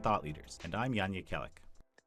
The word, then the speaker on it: Jekielek: This is American Thought Leaders, and I'm Jan Jekielek. Jekielek, that's how you say his name.